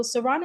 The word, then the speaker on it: Sarana: Um, so Srana Health, I am pronouncing it correctly, correct?